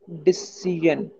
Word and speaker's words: decision: Decision. No. How much syllable is in this word? Decision. Decision. Okay. No, it's not jan, it's yan. Decision. Yan. Decision. But the yan is softer.